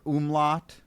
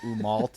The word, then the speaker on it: Umault: is a ridiculous name like people think we're umot right like it it's umal it's a play it's